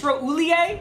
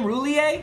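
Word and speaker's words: Roullier: 93 though we get is it chase roulier is how you say his name roulier and a phillip lindsey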